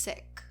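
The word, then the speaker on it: Sikh: like someone who was seek I would know right away because they had would usually have the silver now I heard it's actually pronounced sick um not seek so I say whatever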